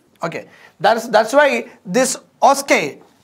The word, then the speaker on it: OSCE: that's that's why this oscar oscar is a pronunciation of osce or sk addresses a